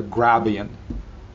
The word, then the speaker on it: Grabient: a gradient is a just like a gradient where D being flipped to B the idea of a